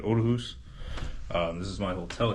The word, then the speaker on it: Aarhus: I had no idea I thought it was Aus but it's otus apparently the two A's together in Danish make a o sound or o so that is how you say it Odus um this is my